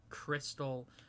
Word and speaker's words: Kristil: It was like I met a girl in high school named like Crystal, but it was spelt with like a Kristil. Oh, like Crystal. Crystal with like the name Chris and then Til.